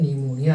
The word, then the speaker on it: pneumonia: होगा लिखा हुआ निमोनिया, जिसमें आपका स्टार्टिंग में पी लिखा है, तो पी इसमें साइलेंट है, बेचारा चुपचाप है, कुछ उसका काम नहीं है, उच्चारण उसका नहीं हो रहा है। उच्चारण कहाँ से हो रहा है, निमोनिया से हो रहा है, लेकिन ये इसको हमको लिखना जरूरी है, पी उसका साइलेंट अक्षर है।